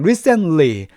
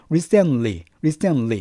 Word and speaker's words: recently: 일단 recently 하지 마시고요. recently 이렇게 ly 발음해 주시기 바랍니다.